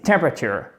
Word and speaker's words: temperature: Donc, en fait, vous pouvez le retenir comme ça, c'est temperature. Vous accentuez la première syllabe et c'est comme si tout le reste du mot, littéralement, s'écroulait.